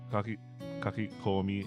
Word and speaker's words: kakikomi: Kakikomi. Oh wait, that is the right way to say it.